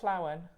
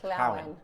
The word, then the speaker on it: Llawen: Is that how you say it? Double L, yeah. How do you say that in Welsh? Nadolig Llawen. Nadolig Llawen. Llawen.